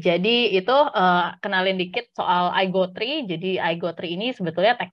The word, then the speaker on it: IGT3: di mana Alchemy itu sendiri sekarang supporting iGo3 gitu. Ini kalau dibaca IGT3 itu bacanya iGo3 ya, bukan Indonesian Got Talent ya.